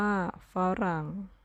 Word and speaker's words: ฝรั่ง: สมัคร อ่าน ว่า สมัคร ฝรั่ง อ่าน ว่า ฝรั่ง เรา มา ดู ตัว